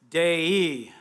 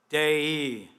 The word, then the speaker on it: Dei: Dei, Dei, the genitive case for the Latin word Deus, God.